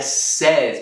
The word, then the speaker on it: says: Mas é says, por algum motivo o A aqui muda de pronúncia.